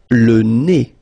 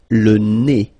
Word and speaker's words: le nez: Le nez. So remember, when you get this combination, E-Z, here at the end of a word, it's E. Le nez.